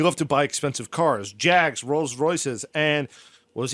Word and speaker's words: Jag: He had this one Jag that was just bright yellow, and he used to just take it Tom, out. say it like a Brit. A Jag. Jaguar.